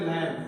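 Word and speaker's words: lamb: मेमना कहते हैं और इंग्लिश में कहते हैं लैम क्या कहते हैं ल लैम इसको लैम नहीं पढ़ेगा भी रहेगा साइलेंट तो लम का मतलब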